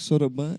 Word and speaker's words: soroban: Sorobã. O que é isso? Sorobã é é um o nome- ábaco que a gente utiliza no Supera. Só que Soroban é a pronúncia em japonês.